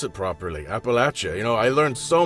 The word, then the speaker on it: Appalachia: and Appalachia even just to know how to pronounce it properly Appalachia you know I learned so much working on